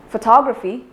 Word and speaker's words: photography: syllable for photograph but if I take another word from the same word family as in photography the stress is not given on the initial syllable fo instead it is given on the second syllable so photography similarly if we